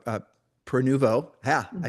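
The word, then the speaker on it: Prenuvo: scans, and we use a company called, uh, Peruvo.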